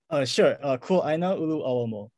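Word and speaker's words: Kuaʻāina Ulu ʻAuamo: Would you mind pronouncing that for me, Wayne? Kuaina Ulu Awamo.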